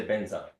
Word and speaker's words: Vajra: the Tibetans, instead of saying Vajra, they say Benza. Mm. So it says Vajrasattva, It's Benzasattva.